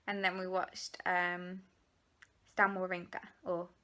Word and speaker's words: Wawrinka: then we watched Stan Wawrinka, or Wawrinka, I think is how you pronounce it. I think it's the W, the V.